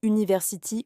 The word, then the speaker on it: university: Si le U se prononce comme dans university ou uniforme, c'est un son de consonne, le son igjo.